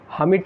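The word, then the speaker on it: hermit: सन्यासी का एक और वर्ड होता है हेमिट, हमिट ही होता है, इसको हमिट पढ़ा जाता है, वैसे आर इसमें साइलेंट होता है।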